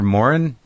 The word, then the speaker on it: Moran: the same last name yes you're Moren is that how you say it that's right yeah and I'm Marin for years when I